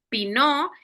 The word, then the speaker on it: Pinot: La primera parte es pinó. Ahí les pongo cómo se pronuncia. Eh omitimos la tés muda la t en esta palabra pinó y viene de la palabra francesa pino.